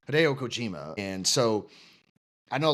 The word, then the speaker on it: Hideo Kojima: Cojima, sorry I said his last name wrong. Hideo Kojima.